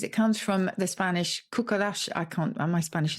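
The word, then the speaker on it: cucaracha: the cockroach because it comes from the spanish cuckolash i can't uh my spanish is not very good kokolacha so c-u-c-a-r-a-c-h-a but because we couldn't pronounce that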